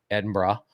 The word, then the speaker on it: Edinburgh: That's how you say it, Edinburgh, and then 2 days in Dublin.